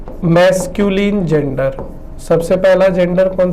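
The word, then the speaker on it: masculine: बहुत सारे लोग इसको जो है मैस्कुलाइन बोलते हैं, बट मैस्कुलाइन नहीं बोलना है, the correct pronunciation is मैस्कुलिन। तो फर्स्ट जेंडर कौन सा जेंडर हो गया? मैस्कुलिन जेंडर हो गया।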